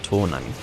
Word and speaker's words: Toonami: I believe it would actually be correctly pronounced Toonami, based on the fact that it's a Japanese word and it's T-double-O, so that would be Toonami.